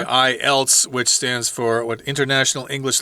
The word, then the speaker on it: IELTS: He says, including the TOEIC, TOEFL, and IELTS.